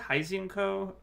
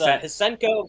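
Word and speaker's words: Hsien-Ko: Shenkara Heisenko? Or how do you say it? It's Hisenko versus Squiggly.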